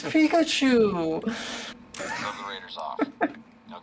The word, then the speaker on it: Pikachu: Oh, Poopachu? Poopachu? No, Mom, that's not how it's pronounced. It's Pikachu.